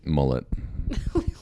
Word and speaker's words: mullet: mullet, How do you say it? Mullet. mullet, Mullet is how you say it. I say Moulet. You're like, they have mullets. the mullet, It's French. Moulet.